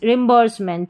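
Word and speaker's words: reimbursement: एस ई को स पढ़ेंगे। तो यह पूरा बन गया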